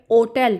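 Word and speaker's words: hotel: यहाँ एक अहम असूल याद रखें, इटालियन ज़बान में लेटर एच अक्का की अपनी कोई आवाज़ नहीं होती, ये हमेशा साइलेंट होता है, जिसे इस लफ्ज़ को हम होटल नहीं बल्कि ओटल पढ़ेंगे।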